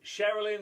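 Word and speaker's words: Cherilyn: Sherilyn Sarkisian, or Sarkisian. So it's spelled Cher, and then Ilin. Sherilyn. Yeah.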